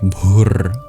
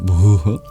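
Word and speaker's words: भूः: Because there's an interesting feature where before a voiced sound, it can turn into a r. So it will actually sound more like Bhur than Bhū.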